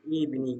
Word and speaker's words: evening: In this word, the stress is on the first syllable. Evening. Good evening. Good evening. Do you know which word? Evening. That's right. Evening. So we say it louder and longer.